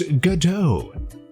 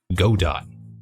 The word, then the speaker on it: Godot: bam here we are it's Gau I've heard some people pronounce it God do as well which to me sounds wrong even though the icon